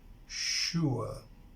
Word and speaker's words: sure: The word sure is pronounced, it starts with this sound, she, you remember this is a consonant. And then we have this vowel sound, this, sure, sure. We say sure, sure, sure.